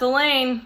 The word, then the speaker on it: Elaine: asked me about her that's Elaine I reply rhymes with pain she frowns everybody says